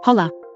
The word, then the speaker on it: hollow: the illustration looks like, as a hollow, which we pronounced holla.